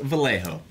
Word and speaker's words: Vallejo: In the box, you'll see the stuff labeled Vallejo PD. Vallejo is the city I live in. If you're not sure, it's pronounced Vallejo.